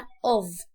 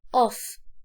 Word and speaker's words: of: لما الاقي دي اقول عليها of مش of. of لو 2 f بس هنا f واحدة فاقولها of زي الفي كده. النطق بتاع الاف هنا زي الفي.